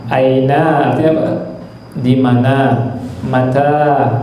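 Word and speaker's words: متى: Mata, bacanya manya pendek, taknya panjang.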